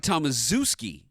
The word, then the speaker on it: Tomaszewski: deadline it looks like Tomaszewski s.z EWS ki at the end in fact in college they pronounced it that way to have a nickname of Zeus for him being the big